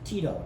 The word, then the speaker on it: Tyto: on a day uh that is uh close in pronunciation to the genus that is pervasive in this particular family which is tito tyto on your list tito